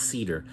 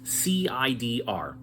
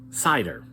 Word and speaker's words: CIDR: this we introduced cider sometimes it's pronounced Cedar but it's cidr classless interdomain routing with cider you're not bound by